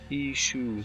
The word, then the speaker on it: issue: issue as they say how do you say issue or issue uh issue issue yeah isoe like like shoe oh right I thought